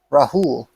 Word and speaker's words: Rahul: We have another set, this time between Fate 1Q and Rahul, with the pronunciation on the H he told me.